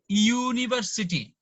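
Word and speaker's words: university: এখানে Yuta vowel, but এটার উচ্চারণটা ইউ, ইউনি, ইউনিভার্সিটি।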